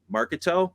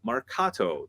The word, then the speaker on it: marcato: Okay you're going to do this Marcato in Marketo no Marcato that it's pronounced Mercado March like cool we did it Marketo again